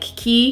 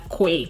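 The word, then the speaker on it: Quay: There are also other brands like Key. I'm gonna say that correctly now because last time when I was recommending eyewear, I kept pronouncing Key as Kwe, and people kept correcting me, and I was like, oh girl.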